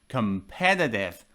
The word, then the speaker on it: competitive: competitive as you see the stress is on the second syllable competitive competitive if you want